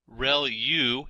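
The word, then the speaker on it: ReLU: there are multiple hidden layers like convolution layer real U is how that is pronounced and that's the rectified linear unit that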